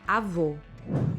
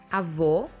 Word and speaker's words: avô: For example, in Portuguese, to say grandmother, we say avó, and to say grandfather, we say avô. For Portuguese speakers, there is a huge difference between these two words, avô and avó.